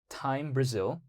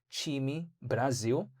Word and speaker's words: Time Brasil: Did you know that Cardano, in terms of the foundation, recently posted how phase one of their partnership with Time Brazil, but it's actually pronounced Time Brasil.